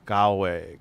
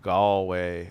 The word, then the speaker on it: Galway: don't watch this uh by the way it's pronounced Galway Galway okay like that and you sound very not